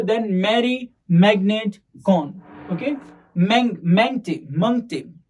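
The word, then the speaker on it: Mangte: मंगते Is it मंगते? Okay, Hindi में pronounce करेंगे तो मंगते होगा, पर ये हिंदी नाम नहीं है।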